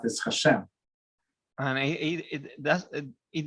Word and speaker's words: HaShem: for polaris it means we um pronounce it hashem and he it does